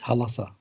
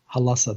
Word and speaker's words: Hulasarr: It's called Hal-Assa, like in other words, Halassa. Halassa. That's how it was actually pronounced.